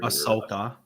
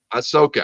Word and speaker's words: Ahsoka: a little bit taller ahoka Ahsoka I'm sorry I always mispronounce don't I you should